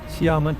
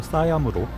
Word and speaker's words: 시암: 시암은 태국 현지 발음으로 싸얌으로 싸얌 파라곤과 싸얌 센터, 마분콩 센터, 센트럴 월드 등 대형 쇼핑몰들이 모여있는 곳입니다.